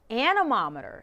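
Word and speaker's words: anemometer: Now, it rhymes with thermometer, but it's not a thermometer. The word is animometer.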